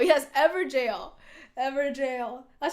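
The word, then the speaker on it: Evergaol: And Everjail. Yes, Everjail. Everjail. That's how you pronounce them, right? With the Gaol is like jail.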